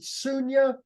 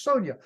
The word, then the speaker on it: Sonia: Is it Sunya? Okay, and then you say, no, it's Sonia. Okay, Sunya Stoffer. Why, Actually, it's Sonia.